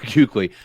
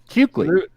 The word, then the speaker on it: Kuechly: Yes, Kuechly. What's the U in there? No, you're saying you. You don't pronounce the U. Chat, back me up on this. Come on, man. Luke Kuechly. There's no U there.